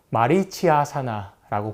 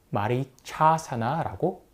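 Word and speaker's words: Marichyasana: 세계 사람들이이 동작 발음 말이 차사나라고 수정을 해줍니다 그래서 마리치아 아사나 보통 이렇게 하는데 그게 아니라 말이 차사나입니다 사실이 외에도 잘못 발음되고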